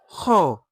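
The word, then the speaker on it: خاء: The sound of Kha comes from the upper part of the throat, which is closer to the mouth than Ha.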